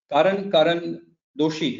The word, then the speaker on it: Karan Doshi: This time I'm joined with Karan Doshi, right? If I've pronounced it right.